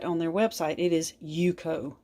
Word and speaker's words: UCO: it's made by yuko now this is not pronounced uco you can verify that on their website it is yuko yuko this is a usa made product and i